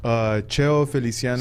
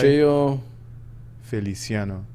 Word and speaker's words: Cheo Feliciano: So I listen to a whole bunch All of right, spell it. Cheo Feliciano. C-H-E-O? Yeah, C-H-E-O. Like Feliciano. Eliceo Gamino? Yeah, and Feliciano is Wait a minute. F-E-L-I. Cheo Feliciano.